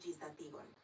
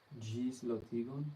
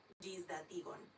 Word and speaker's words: ĝisdatigon: Mi povus kontroli ĝisdatigon is how you would say I can check for an update. Ĝislotigon? Repeat that. Ĝisdatigon.